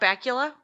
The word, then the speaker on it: Bakula: supposed to be disappointing scott bakula's name rhymes with butt krakula i mean there's nothing